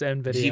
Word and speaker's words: Nvidia: TI Alan can we just appreciate how he pronounced that just now NV d i it's it's Nvidia gForce Nvidia yeah same dude